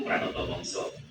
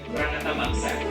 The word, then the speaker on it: Pranata Mangsa: Nenek moyang kita turun-temurun mengenal ilmu Pranoto Mongso. Apa itu Pranoto Mongso? Mengutip Wikipedia, Pranata Mangsa atau dalam pelafalan bahasa Jawa menjadi Pranoto.